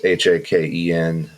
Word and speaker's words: Haken: So we might have to ask him how to say the name, but I think it's Haken. It's Haken. Album's called Virus, and this track is Prosthetic.